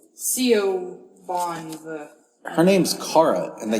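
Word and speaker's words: Siobhan: this name she's like sioban she's like you pronounced that correctly C Bon her name's Cara and I can't get it right but shoban with a B who knows I'd be like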